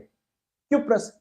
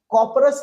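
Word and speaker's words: cuprous: क्यूप्रस, कॉपरस नहीं बोलते, वो थोड़ा प्रोनाउंसिएशन बदल दिया गया, क्यूप क्यूप CuP लगा देना, क्यूप्रस क्लोराइड हो गया CuCl।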